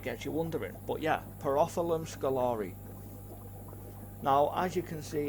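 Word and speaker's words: Pterophyllum scalare: quite a lot so I used to say pum Scala um because I didn't realize that the tea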